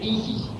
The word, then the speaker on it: ISIS: mantran de los misterioso, que se pronuncia ISIS en dos, se reparte en dos sílabas. y así se pronuncia el manchatis. La s es como un silvo dulce y apacible.